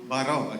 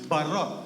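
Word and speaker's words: ברא: But it's pronounced as B-A-H-R-A-W. ஆனால் அது நம்ம சொல்லும் பொழுது B-A-H-R-A-W வாக நம்ம சொல்கிறோம். How do you pronounce it? Barao. Correct. Barao.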